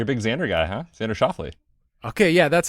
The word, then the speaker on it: Xander Schauffele: Xander Schauffele.